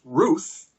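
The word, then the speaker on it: Ryyth: knew a family who whose surname was Ruth spelled r y y t h take that benridge Scholars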